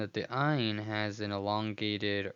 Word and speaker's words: ayin: That's how we will review the aleph and the ayin as silent letters. Those are the two silent letters in the Hebrew alphabet, aleph and ayin.